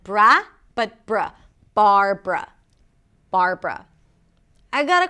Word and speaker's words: Barbara: Barbara. This name has two syllables.